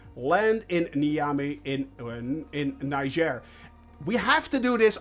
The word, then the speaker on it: Niger: flying from Burkina Faso to Niger that's actually how you pronounce it Niger and we are flying